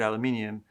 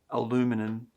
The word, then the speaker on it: aluminium: environmental credentials um using recycled aluminium aluminum you even spell it differently americans it's it's good um aluminium aluminium we spell it differently that's how it's said here anyway but the rare earth